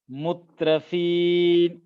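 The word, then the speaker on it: مُتْرَفِين: உச்சரிக்கப்படணும் ஜாலிக்க தா ஜாலிக்க முத்ரபீன் முத்ரபீன் இந்த தா இருக்கே இதை வந்து முத்து அப்படின்னு சொல்லக்கூடாது இதுல வந்து சுக்குன் இருக்கு சோ இதை முத்ரபீன் அவ்வளவுதான் முத்ரபீன் அப்படின்னு தவறா உச்சரிக்க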